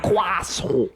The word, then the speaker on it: croissant: Croissant. Because that is how you pronounce it.